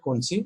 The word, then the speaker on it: concha: There are 3 to 4 bony, somebody say it concha, somebody also pronounce it conchi.